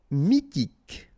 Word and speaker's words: mythique: Mythique, remember, Q-U at the end, K, okay, and then Y is pronounced like I, mi, H is not pronounced, T, K, mythique.